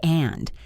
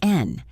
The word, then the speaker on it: and: It is a very small word, but we almost never say and. We usually just say n.